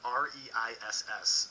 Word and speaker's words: Reiss: Guys, again, R-E-I-S-S, pronounced Reiss, it's very German, on the Critical Role Fan Club and the Dungeons & Dragons group on Facebook.